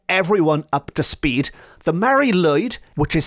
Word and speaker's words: Mari Lwyd: Now, I did tease you at the start of this episode with a creature that might be even stranger than the Mari Lwyd, and that will be coming up very soon.